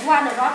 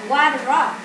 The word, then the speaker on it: wardrobe: Rồi wardrobe này. Mình không đọc là wardrobe. Mà mình đọc là wardrobe. Wardrobe. Cái wa là mạnh hơn.